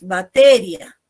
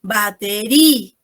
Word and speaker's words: batería: Nosotros no pronunciamos batería, ¿no? Lo que nosotros decimos es batería, ¿no? Por eso tildamos, ¿no? Tiene presencia sonora, ¿no?